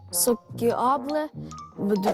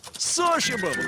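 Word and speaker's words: sociable: потом дисциплін дисципліна сокіабле друже це правильно сокіабле Ну скажіть мені сокіабле це правильно Оце сокіабле це правильно Та яке сокіабле сош товариський шукаємо що ти туди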